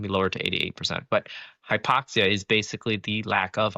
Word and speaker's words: hypoxia: What is hypoxia?